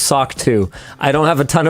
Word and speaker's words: SOC 2: Apparently, SOC2 is pronounced SOCK 2.